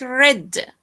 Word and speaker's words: read: H another one read so here here is pronounce it like like red red so red and read okay so read the first one read is